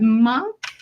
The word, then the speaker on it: Monk: But today we have Micheal, am I pronouncing it right? Monk?